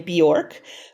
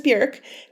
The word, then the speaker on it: Björk: Many people pronounce her name Bjork, but the correct pronunciation is Björk.